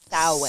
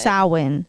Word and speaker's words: Samhain: And I just want to say, guys, this is spelled Samhain, but it's pronounced Samhain. Samhain, like a cow.